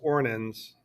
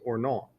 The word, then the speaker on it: Ornans: I know it looks like it spells Ornans or Ornans, but the French pronunciation is Ornans.